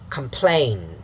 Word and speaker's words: complain: Complain. So you see the sound again in the unstressed syllable. So the da, complain.